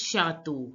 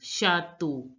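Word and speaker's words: château: becomes shato T becomes the so it becomes shato shato now listen to the pronunciation of the Native French speaker chateau again chateau chateau D is called they in French which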